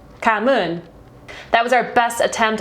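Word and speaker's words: cảm ơn: And this one's a lot tougher because from our understanding, the pronunciation of this is different in both the South and the North, but it's Kamun, Kamun.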